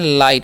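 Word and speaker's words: light: जी एटी है तो इसे हम पढ़ते हैं लाइट यानी कि आई आई करना है जी साइलेंट होता है ठीक है तो इसे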